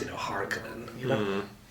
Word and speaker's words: Harkonnen: It's always weird how they pronounce, you know, Harkonnen, you know? It's a Finnish sure name, you know. Yeah. We pronounce it Harkonnen, not Harkonnen. You know, with an A and you know.